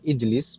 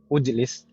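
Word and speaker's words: اجلس: Kenapa kita bacanya ijlis bukan ujlis? Karena ainul fi'linya atau huruf yang di tengah yaitu huruf lam, di sana tandanya kasroh.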